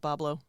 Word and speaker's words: Bois Blanc: No, it's still pronounced Boblo. Is it still pronounced Boblo? Yeah. Okay. That's why What the fuck? that's pronounced Boblo. That's where the theme park got its name. Yes. They just spelled it phonetically, like Chef Boyardee.